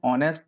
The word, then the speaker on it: honest: क्योंकि इसको हम हॉनेस्ट नहीं पढ़ते हैं, इसको हम ऑनेस्ट पढ़ते हैं।